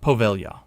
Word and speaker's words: Poveglia: Number eight, Poveglia, Italy. Pronounced Poveglia.